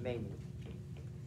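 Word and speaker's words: Mane: You sent the payment to counts of your Mene, or Mene, M-A-N-E is how it's pronounced, Mene.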